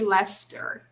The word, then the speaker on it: Leicester: a parking lot in leicester england this fight caused great excitement among archaeologists and historians actually hear lester that's how they pronounce this because it's from it's in england so lester so imagine guys a